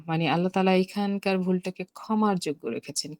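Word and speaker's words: الله: শিখবো এখন কথা হচ্ছে আল্লাহু শব্দের লামকে দুই ভাবে পড়া আল্লাহকে কয় ভাবে পড়া যায় দুই ভাবে আচ্ছা কখনো পোর আবার কখনো বারিক অর্থাৎ কখনো মোটা কখনো পাতলা পোর শব্দের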